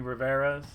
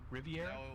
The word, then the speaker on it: Riviera: I wanted to say Bu because I was curious if I was going to hear any Riveras. I was curious. Riviera. Yeah, Riviera. I keep saying it wrong.